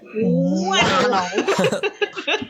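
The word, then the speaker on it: Whannell: I always say Lee Wannell, but I really like how you pronounce it. Wannell. Like a flannel.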